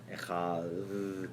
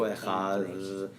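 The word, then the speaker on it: אחד: echad, because there's an elongated Dalet pronunciation. So you have to go echad.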